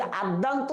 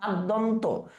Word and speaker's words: আদ্যন্ত: আদ্যান্ত বানানটা ভুল আছে, আদি যুক্ত অন্ত যদি আমরা হই তাহলে এটা হয় আদ্যন্ত, নট আদ্যান্ত।